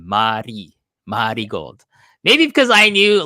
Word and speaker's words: Marigold: about mty gold but so it's not marry Gold by the way people you got to say it with like the kind of like the karakana pronunciation Mari Mari gold maybe because I knew